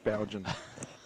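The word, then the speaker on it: Boughen: Bowden. It's meant to be B-O-U-G-H-E-N, but it doesn't sound like Bowden.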